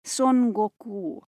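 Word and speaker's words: 孫悟空: no te extrañe porque su versión japonesa se pronuncia son goku efectivamente el archiconocido manga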